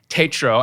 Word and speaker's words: Tatro: of those things and i found out lauren pronounces her name tatro and i was saying it wrong all along